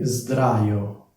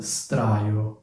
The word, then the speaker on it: sdraio: Un'altra cosa che vorrei precisare, si dice sdraio perché c'è una D, quindi la S diventa una S, quindi sdraio, non straio, perché poi è anche difficile da pronunciare.